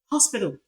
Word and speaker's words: hospital: We also have it in hospital, hospital, hospital, not not hospital. You don't seal off the hair.